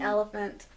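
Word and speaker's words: Oliphaunt: Well, that's how you say it, because it's O-L-I-P. It's elephant. No, it's O-L-I-P-H-A-U-N-T. Elephant. That's not how you spell it.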